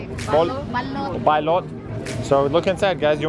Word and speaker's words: balut: Bali? Balot.